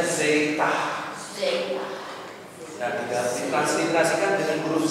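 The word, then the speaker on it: ζήτα: ya perhatikan tulisan huruf besarnya huruf kecilnya ya pengucapannya zaitah zaitah Nah ditransliterasikan dengan huruf z zat seperti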